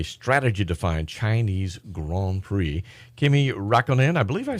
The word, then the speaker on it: Räikkönen: Kimi Räikkönen, I believe I say her name. That's right. Yes, it's Kimi his. Räikkönen.